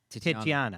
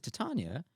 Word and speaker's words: Titania: for years I've been reading it as to titiana yeah me too and I've had and Tatiana I've had a lot and yeah so I